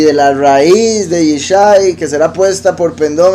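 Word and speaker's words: ישי: Entonces, Yeshimón, estas tres letras se pronuncian Yeshai.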